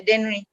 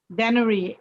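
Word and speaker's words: Dennery: i was born we were called then eureka daenery you have to spell can you spell that for me then generally d-e-n-n-e-r-y daenery saint lucia yeah yeah okay great so is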